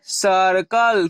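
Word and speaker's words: circle: आपने क्या पढ़ा था यदि सी के बाद आऊ या कोई कांस्टेंट रहता है तब वहां सिख को क्या पढ़ते हैं के तो यहां सी के बाद क्या है हमारा कंसोनेंट है तभी हंसी की ध्वनि क्या निकलेगी के तो यानी सी आई आर सी एल इसे हम क्या पढ़ेंगे सर्कल क्या पढ़ेंगे इसे हम सर्कल यहां अब देख रहे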